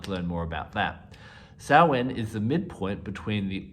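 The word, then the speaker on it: Samhain: evolution of an old Pagan Festival known as salwan it's spelled s-a-m-h-a-i-n and I have another video on my channel if you'd like to learn more about that sowen is the midpoint between the Autumn Equinox and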